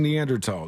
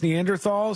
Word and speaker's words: Neanderthal: folks the drunken mailman says Sean is badly pronouncing neandertal no that's how you're supposed to say that's how they said it in my anthropology class in college I know everybody thinks it's Neanderthal so it's one of those ones when if